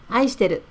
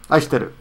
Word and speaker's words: 愛してる: But the casual, pronounced casual. 愛してる. 愛してる.